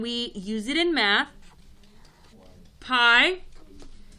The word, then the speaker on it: pi: letter okay and we use it in math pi spelled p i pronounced pi in math in seventh grade in